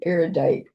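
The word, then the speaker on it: erudite: You have a very aerodite congregation here. Yep. And arodites. Yeah. Three syllables.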